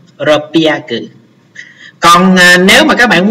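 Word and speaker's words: 六百: À, đáp án chúng ta là đáp án số 4 đọc là ropiaku, nó đọc đặc biệt ha, ropiaku.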